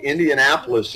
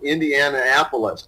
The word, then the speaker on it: Indianapolis: first started way back I couldn't say indianapolis in his sports updates I kept for the same Indiana apolis because as they go to Indiana and Indianapolis yeah we've all if